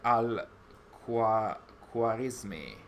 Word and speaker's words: Al-Khwarizmi: Basim studied under Al-Khwarizmi. I think that's the pronunciation.